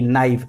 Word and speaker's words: knife: KNIFE, नाइफ।